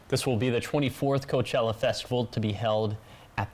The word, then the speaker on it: Coachella: talking about next year's Coachella Music Festival because the lineup is officially out so Josh who is headlining I think you said it wrong it's Coachella Coachella yeah there we go